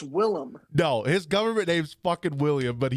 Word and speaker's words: Willem: with like william defoe he says his name's william his government it's willem no his government name's